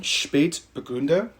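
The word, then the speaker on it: Spätburgunder: Spät rhymes with late because it's referring to the lateness of the ripening of this grape. Burgunder, like Burgundy, because this is Pinot Noir.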